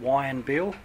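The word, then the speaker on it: Whyanbeel: About 12:30 this afternoon, we got advised by Fire and Rescue communications that a helicopter had crashed at a location called Wyanbeel, and I'll spell it, W-H-Y-A-N-B-E-E-L, which is about 10, it's a rural location, about 10 nautical miles north of Mossman.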